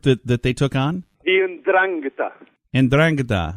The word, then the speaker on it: Ndrangheta: The Ndrangheta.